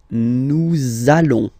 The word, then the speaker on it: nous allons: it does mean that you will have to pronounce this z sound, okay? Listen to me. Nous allons.